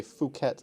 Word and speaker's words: Phuket: says pp land well it is the land where ph is pronounced as a hard p if whenever you hear someone say phuket or fifi you kind of have to do a face palm where is this jeanette's